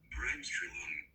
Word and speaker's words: Bremsstrahlung: Bramstrelung. Bramstrelung. सुन लिया? ऐसे pronounce करते हैं।